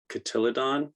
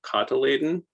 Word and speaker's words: cotyledon: You'll also hear a word, cotyledon, which I know I'm mispronouncing, but that's how I first started pronouncing it. And I fell in love with that mispronunciation, but it's really a cotyledon that I'm talking about, which is like the